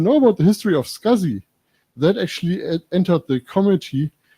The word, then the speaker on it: SCSI: the small computer systems interface that nobody knows as SCSI but everybody knows that scuzzy so there are some